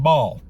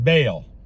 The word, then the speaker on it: Baal: And that was well, they were saying the name Ball and it's not pronounced Ball. I was always told it was pronounced Baal.